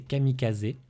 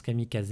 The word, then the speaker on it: kamikaze: On pense notamment à la phase de la Seconde Guerre mondiale avec la naissance des kamikazes. Parce que ça se prononce kamikaze à l'origine et pas kamikaze.